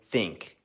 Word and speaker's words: ThinQ: first impressions video of the LG G seven think or think you just depends on how you pronounce it but basically I just got this